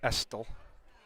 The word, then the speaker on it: Estel: He yelled at me at which city because I wasn't pronouncing his name with the T in it. So now I got to make sure I accentuate the Estel.